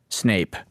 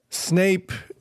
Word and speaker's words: Snape: What about Snape likes snakes though? And his name rhymes with cape, so he's almost a superhero.